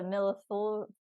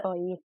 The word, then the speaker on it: millefeuille: How do you pronounce the millefeuille? Like the Millefeuille.